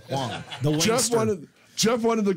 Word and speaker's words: Hwang: You don't pronounce the H in your name, right? Hwang. Hwang. Okay, you do pronounce it. I was right. Well, you said it both ways. You weren't sure, so you said you never said it around him. Alex Hwang. T.H. Wang. No, Wang's Hwang.